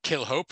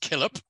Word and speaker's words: Killhope: he looks like it's kill hope it's actually pronounced killip uh but it sounds like it's going to kill hope but it's not um and what happened